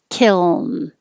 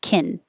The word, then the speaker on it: kiln: longer duration so that it can be heard before you finish with the end kiln otherwise because they're made in the same place the l and the n both touch behind the top teeth it could disappear and sound like kin so you have to make the l noise for a little longer kill kill some both